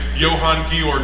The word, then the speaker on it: Johann Georg: They would have pronounced his name Johann Georg Bausum.